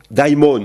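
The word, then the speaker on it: δαίμων: y a intervention d'un Diamon diimon il faut dire si on prononce bien quand est-ce qu'il y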